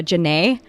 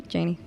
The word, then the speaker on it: Janey: moved to chicago um people kept pronouncing my name uh janae i get janae i'm like no janie because i'm white really